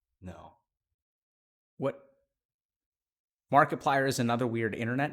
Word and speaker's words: Markiplier: gamer like us Mark Markiplier kind of sounds like the word multiplier but with a name thrown in so it sounds like